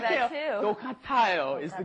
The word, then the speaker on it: 똑같아요: 똑같아요 is the correct pronunciation.